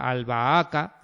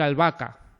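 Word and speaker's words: albahaca: una especie de de en vez de separar el la sílaba con la h intercalada al baaca, no ha tenido que decir albaca para que salga de siete, ¿vale?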